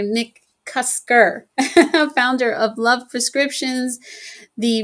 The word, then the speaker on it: McCusker: My guest today is McKuster. Oh, I mispronounced that. I'm so sorry. Nick Kusker, founder of Love Prescriptions, the relationship institute.